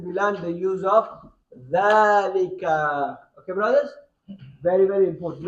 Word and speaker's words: ذلك: Dhalika is pronounced as Dhalika but written without the alif.